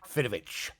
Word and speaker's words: Fidowicz: Fidovich.